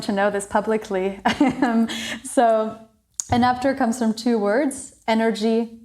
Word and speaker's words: Enapter: Do I pronounce it correctly, Enapter or Enapter? Yeah, Enapter.